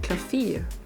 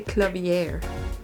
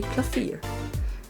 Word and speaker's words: Klavier: So I think I'm gonna say Clavier. Clavier Gavin. Rock and roll god incarnate. Well, his correct German pronunciation would be Klavier, which is piano.